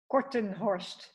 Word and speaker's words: Kortenhorst: Kortenhorst. Kortenhorst.